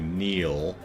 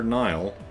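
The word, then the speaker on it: Niall: L says Scottish Gaelic pronunciation of the name is definitely Neil, but no shade on our friends and relations who are Nile.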